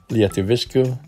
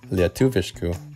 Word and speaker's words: lietuviškų: For example, I would pronounce these words as žinoma, lietuviškų, and palanga. But as verified by my wife, these would be pronounced as žinoma, lietuviškų, and palanga.